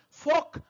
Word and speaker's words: folk: type is Fox song folk song remember we cannot pronounce l Allah talk harmful folk